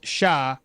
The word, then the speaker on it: chats: Best part is when you uh when you got several cats, the word becomes chats cha but still remain pronounced as sha with a silent t.